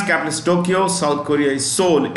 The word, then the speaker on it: Seoul: Tokyo South Korea is sold s-e-o-u-l the E is silent in Seoul okay India of course